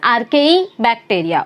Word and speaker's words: Archaebacteria: इट इज़ आर्केई बैक्टीरिया।